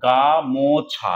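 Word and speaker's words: গামোছা: দেখো গা মো ছা, এটা মূল শব্দ, তাহলে দল এখানে কটা রয়েছে, সিলেবেল 3টে রয়েছে, একটা হচ্ছে গা, একটা হচ্ছে মো, আমি উচ্চারণ করছি মো তাই ময় ওকার লিখলাম, আর একটা হচ্ছে ছা।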